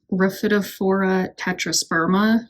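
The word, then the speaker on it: Rhaphidophora tetrasperma: closer this is a rafid for tetrasperma I believe is how it's pronounced and it's also known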